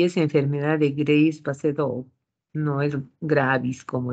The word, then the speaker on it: Graves: y es enfermedad de Grace paseo no es gratis como dice midd War no o si quiere en los apellidos decir lo bueno en español graves pero se pronuncia Grace y este siempre También